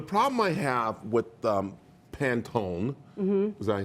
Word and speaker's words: Pantone: that okay the problem I have with the Pantone own was that I say it right you did